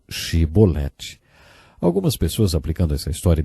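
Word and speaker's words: שבולת: regiões do nosso país eles não conseguiam pronunciar o som CH e por isso vizinho a cebolete ao invés de ge boletim GT de golo 42 mil homens porque eles não conseguiram dizer shiboleth algumas pessoas aplicando essa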